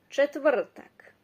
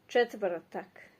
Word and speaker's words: četvrtak: Yeah, it's a bit harder to pronounce because of a lot of consonants clustered together, but try. Četvrtak. Četvrtak. I know it's not separated that way when you by syllables, but so it's basically from number